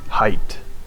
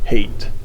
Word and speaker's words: Hayt: to Paul Atreides, and his name is Hayt, or Hate. It's spelled Hayt. I would think it would be Hayt, because Hayat means life in Arabic, which is so close to height. And this is Duncan's new life, so you think it'd be that, but I think I heard Frank Herbert say it's Hate. So we'll see how they pronounce that in the movie.